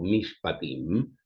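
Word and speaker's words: mishpatim: Eh, a diferencia de esta ley llamada casuística o mispatim, eh se escribe m i s h p a t m.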